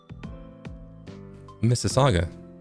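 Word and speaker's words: Mississauga: Uh, if you're Canadian, then pronounce Missaga. What? Come. It's Missaga.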